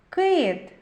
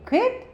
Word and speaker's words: кит: Отже це М'який приголосний у слові кит який перший звук Ми чуємо кит к ми вимовляємо і чуємо твердо Отже це твердий приголосний